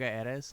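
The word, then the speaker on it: Erez: lot of uh noga eras lately i think i'm pronouncing it right it's like e-r-e-z okay uh they're from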